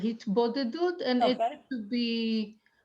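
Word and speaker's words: התבודדות: Said to him, so it's a practice called in Hebrew hitbadadut or hitbadadut, which means, Yael, how would you translate that? I would pronounce it hitbodedut, and Okay.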